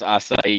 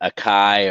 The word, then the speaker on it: acai: I'm glad you know how to pronounce acai. You'd be surprised how many people call it akai or acacia.